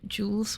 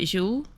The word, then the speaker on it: Jules: knowledge is working adequately Jules would be would in English be pronounced roughly as chill um breathy sh sound silent S at the end and Vern would have